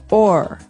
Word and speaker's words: o'er: So this is a way to make the word over shorter, because over, you can hear it 2 syllables, over. But sometimes we only want one. So we say or.